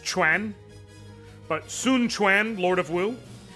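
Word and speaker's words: Quan: It's pronounced Chwan, but Sununuan Lord of Woo.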